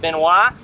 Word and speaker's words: Benoist: melissa benoist but it's been nice but it's pronounced benoit and and it was an early airman airplane